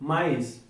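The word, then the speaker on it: maïs: we're going to take mice mice is corn so in this accent Prema to pronounce the word separately that's why we use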